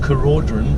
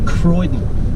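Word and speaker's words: Keraudren: i'll go to cape what i call carodron but i was corrected by the kayleen in the visitor center here who said it's absolutely cape croydon but it's spelt cur audrey anyway what's in a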